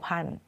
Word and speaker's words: พันธุ์: ข้าง ล่าง ด้วย ค่ะ ทัณฑฆาต กำกับ ตัว ไหน ตัว นั้น ไม่ ออก เสียง เรา เลย ไม่ ออก เสียง ทั้ง ธ ธง แล้ว ก็ ไม่ ออก เสียง ทั้ง สระ อุ ด้วย ค่ะ โดน ค่า เสียง ไป หมด เลย นะ คะ เผ่า พันธุ์